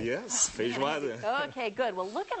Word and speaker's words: feijoada: Yes, feijoada.